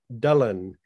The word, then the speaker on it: Dylan: his throat because in welsh um dylan is pronounced dylan dullen and there's a story whether it's apocryphal or